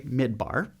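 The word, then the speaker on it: מדבר: You say midbar. Good. Get this. Midbar, the word for desert, is spelled the exact same way in Hebrew as the word for speak.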